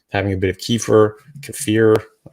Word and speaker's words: kefir: a bit of kefir kefir I've always pronounced it kefir but I've heard some people saying kefir uh you know with